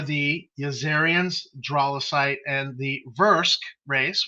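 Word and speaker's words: Vrusk: yazarians dralocite and the versk race which sometimes get mispronounced by people like even me as the verse and so he has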